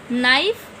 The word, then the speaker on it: knife: Knife, K silent.